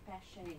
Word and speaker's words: Pasche: Ah, so that's how you pronounce it, Pasche. Pasche is, Yeah, she sent me a voice note,